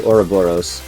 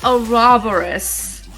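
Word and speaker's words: Ouroboros: We've got Oh dear, another word I'm going to mispronounce. I always say Oraoros.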